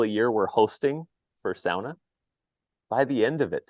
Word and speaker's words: sauna: got a shot at helping SAA be pronounced SAA here in the US I think hey folks